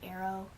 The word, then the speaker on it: aro: is short for aromantic some people say like arrow I just kind of say arrow you know so it rhymes with Tarot and then ace is